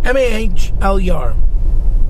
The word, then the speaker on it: Mahler: like that i mean m-a-h-l-er mahler i believe is how he's pronouncing either way he went